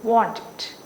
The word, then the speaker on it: wanted: variation, helped, called, okay, wanted, we say wanted, right? Wanted, and we say needed, needed. Okay, if you identify why for these two sounds this id means, how can you pronounce? Suppose want, how you can't produce like t or you can't produce like d, that's why it is id, want it.